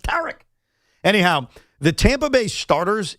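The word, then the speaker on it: Tarik: And some people call him Tariq, but it's not pronounced Tariq. It's pronounced Tarek.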